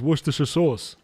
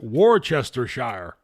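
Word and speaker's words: Worcester: How do Americans pronounce it? Was Shshire or something like that? How do they say it? No, not Mama Jack. Happy Jack. He's a character in a movie that came out Shortly after the turn of turn of the millennium, excuse me. So they pronounce it Warchester.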